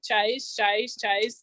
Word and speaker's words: cześć: Cześć is how you say hello. Cześć, which is pretty easy.